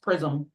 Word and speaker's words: PRSM: Yeah, apparently it's pronounced Prism.